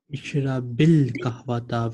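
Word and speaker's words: اشرب القهوة: Ishrabil kahwata. When we have alif lam, we write schoon, but we pronounce kasra. Ishrabil qahwata.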